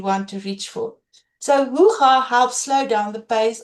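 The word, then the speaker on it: Hygge: on your screen, I used to call it Heige. And I know you've been quietly avoiding saying the name out loud. You are definitely not alone. It is actually pronounced hoo-ha, not hee or heigi, not whatever comes out when you suddenly have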